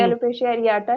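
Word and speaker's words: alopecia areata: अच्छा, मोहम्मद अल्मास कह रहे हैं कि treatment of एलोपीसिया एरिटा, I don't know मैं प्रोनाउंस एलोपेशिया सही कर रही हूँ कि एरियाटा नहीं। बिल्कुल ठीक है, जी। एलोपेशिया एरियाटा है।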